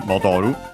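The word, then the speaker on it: 戻る: you'll find in game modoru. Uh we actually see it if we ever play a level. Uh but yeah, it doesn't change. Uh modu is a verb should be accented.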